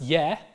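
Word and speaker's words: ge-: looks like German gay in Old English it was pronounced yeah pop quiz question why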